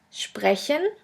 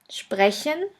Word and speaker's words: sprechen: The next letter combination is SP, SP, ST, ST, which is pronounced like the letter combination SHP and SHT. Let's have a look at the examples. The first word is sprechen, sprechen, which means to speak, and the second one